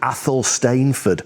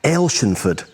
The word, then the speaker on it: Athelstaneford: internet they'll pronounce it Ethel stainford and I guess that is the English pronunciation or in Scotland of course if you're local you're going to pronounce this Village as El shenford elshenford not Athol stainford